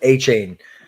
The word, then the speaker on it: Achane: I'm so happy you said it because I didn't know how to pronounce it either. I was hoping Cody would correct me, but Achane, yes.